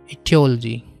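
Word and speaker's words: etiology: है, और ये भी स्पेलिंग देखने को मिल सकती है, ठीक है, प्रोनाउंसिएशन दोनों की सेम है, इटियोलॉजी। नेक्स्ट है साइंस ऑफ मैनकाइंड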